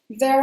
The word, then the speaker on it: there: The song starts with "There are days" "There are days". So, here, when you're saying "there", make sure you use the voiced th sound: "there" "There are days" "I wake up and i pinch myself."